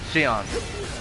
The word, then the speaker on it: Xion: Yeah, Xion. Ayana, like your name is. The X is silent.